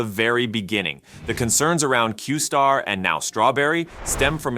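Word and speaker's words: Q*: originally this model was known as Q asterisk pronounced qar within open AI this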